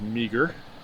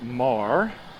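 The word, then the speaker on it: Meagher: actually spelled e m-e-a-g-h-e-r a lot of people mispronounce it as meager it's kind of a nice little deal there um but it's pronounced mar i don't recall the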